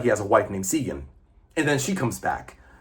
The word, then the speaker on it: Sigyn: I know I'm pronouncing correctly because I looked it up. Sigyn.